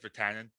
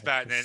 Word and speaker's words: Vatanen: So like Virtanen, we'll see. Vatanen. Sorry, Vatanen. Is that how you say it? I think that's how you say it. Yeah, it's Vatanen. It's Vatanen. Sammy Vatanen. I said Virtanen.